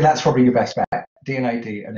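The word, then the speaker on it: D&AD: The DNAD annual is pretty good. So DNID, Design and Art Directors Club, but it's spelled D and ampersands AD.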